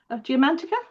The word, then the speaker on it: Geomantica: And Alanna has also, I'm just going to see if I can pronounce this correctly, Alanna, Geomantica.